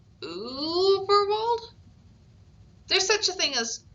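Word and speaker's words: Überwald: Uberwold, he read out. That's Uberwold, said a small, squeaky, but very clear voice. The dots make it a sort of long ooh sound, but you're doing well. Uberwold?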